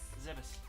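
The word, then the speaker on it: Zebes: Zebus. Yeah, Same there's always people arguing how it's pronounced, but since it's from Japanese and I have studied Japanese, the pronunciation should, technically be Zebus.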